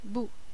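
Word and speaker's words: 不: word Buu meaning not how do you say not in Chinese well I would hope you remember over this very short time frame it's boo okay and now there's a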